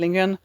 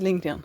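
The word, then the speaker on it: Lindgren: This is giving a bit of Madikan which is an Astrid Lingan story. Astrid Lingan. Astrid Lingan. I am Swedish. I should pronounce her name the way it's supposed to be pronounced. Astrid Lingan.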